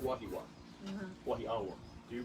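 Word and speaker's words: Wahiawā: It's this one is a W.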